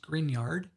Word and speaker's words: Grignard: - these are called grignard reagents that's pronounced green yard these are mg x